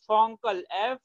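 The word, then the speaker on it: FONCL: in the whole periodic table, you can learn Fonkel. Are you getting which uncle I'm talking about? I am talking about Fonkel. Name of uncle is Fonkel.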